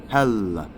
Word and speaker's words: Hel: And now that comes from Hel, which is how you pronounce Hel's name, the goddess of the Nords, who is kind of female contemporary to Thor and Odin.